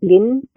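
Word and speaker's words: блин: that technically means pancake, I believe you pronounce it blin, and it technically means pancake, but it's usually used when somebody's like, "Ah, shit," Okay.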